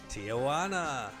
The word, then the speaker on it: Tijuana: Tijuana. Rhymes with that.